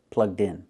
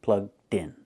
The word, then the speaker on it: plugged in: Pronounce it like it's one word, plugged in, plugged in. Link the sounds, d, in, din, plugged in.